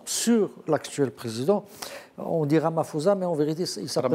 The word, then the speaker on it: Ramaphosa: Ramaphosa, on prononce le P.